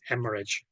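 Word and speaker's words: hemorrhage: e okay which actually become as okay you pronounce it as hemorage now here is okay the word r r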